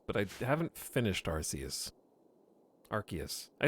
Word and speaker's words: Arceus: Chat, can you give me a compelling reason why it would be pronounced Arceus when everyone knows Arce is pronounced A-R-S-E? Okay, this is A-R-C-E, which is totally different. It's not like farce at all. It's like arc.